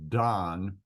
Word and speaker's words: Dan: the root word is the Hebrew word Dan and it would be spelled D a n and pronounced Don and it means to